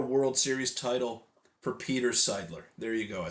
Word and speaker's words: Seidler: their first ever World Series title for Peter Seidler. There you go. I said it correctly this time. Sorry for mispronouncing his name the first go around, but